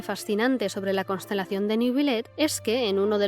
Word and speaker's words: Neuvillette: a nada especialmente importante nebilet que debería ser pronunciado nebilet puede proceder de dos